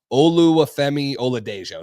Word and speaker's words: Oluwafemi Oladejo: I know that's what people call him, but I'm going to try to pronounce the whole thing. It's Oluwafemi Oladejo, something You like that.